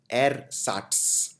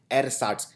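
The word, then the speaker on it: ersatz: होता है नकली के लिए जिसको बोलते हैं एर साट ये थोड़ा सा डिफिकल्ट शब्द है प्रोनाउंस करना एर साट ई आर एस ए टी जड एर साट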